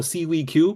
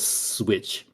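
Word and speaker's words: SIWIQ: So, everybody says, "Oh, seaweed Q." But if you pronounce it with the the in Chinese phonic, it just says switch. It literally just says switch.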